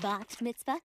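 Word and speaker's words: bat mitzvah: love invitations open it mitzvah i think it's pronounced box mitzvah that is correct molly i knew it for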